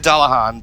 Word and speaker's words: Dullahan: version by the way when I said Dullahan that that's the actual pronunciation for you know headless people right the headless girls alright